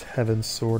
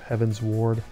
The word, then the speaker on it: Heavensward: I'll always pronounce that expansion pack for FF14 as Heaven's Sword instead of Heaven's Ward.